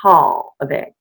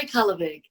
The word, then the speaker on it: Kallevig: And oops, I said it wrong. It's Kallevig. Kallevig? Either one. Yeah, either way is good. Please say your name again so we can get it in our ears. Kallevig.